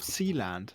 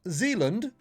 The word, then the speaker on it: Sealand: Talking about the legality of Sealand. Oh, the legality of Sealand. Not Zealand. Sealand. Sealand. Sealand. I bet it's pronounced Sealand, not Sealand.